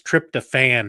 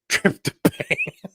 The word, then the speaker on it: tryptophan: And by the way, Gerald, it's tryptophan, not tryptophan.